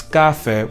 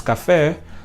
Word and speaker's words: café: And then this word, we do not pronounce café, we pronounce café.